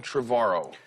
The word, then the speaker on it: Trevorrow: uh my guest colin trevaro you said it right finally trevor like tomorrow yeah there you go